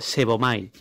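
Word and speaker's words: σέβομαι: Y la segunda derivación de la palabra piadoso es la 4576 en griego, que se pronuncia sebomai, que significa adorar.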